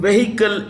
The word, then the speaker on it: vehicle: The H in vehicle is silent.